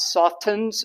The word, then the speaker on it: soften: use this English word the t is silent it's not softens it softens and it